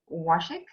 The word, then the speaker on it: Washick: Chad, that's the name of the project, and it's Chad Washick. Am I pronouncing it right? Yes, you are.